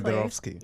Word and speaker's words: Fedorovsky: Exactly. Fedorovsky. Yeah. It's the way that it sounds, the way that it's spelled, pretty much.